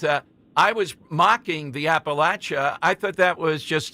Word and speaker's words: Appalachia: And the difference is the third A is a short A, not a long A.